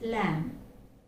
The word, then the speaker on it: lamb: is silent it's just lamb as in like this lamb this is the sound okay because the last sound is silent as in calm tomb which we have seen